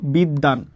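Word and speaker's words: বিদ্বান: সেইমভাবে দেখো বিদ্বাান। বফলাটা মাঝে আছে শব্দের মাঝে। এবং এই বফলাটা কার সাথে যুক্ত আছে? বফলাটা যুক্ত আছে দ এর সাথে। তাহলে আমাদের দ এর উচ্চারণটা কতবার হবে? দুইবার হবে।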